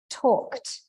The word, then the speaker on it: talked: Secondly, the L is silent, right?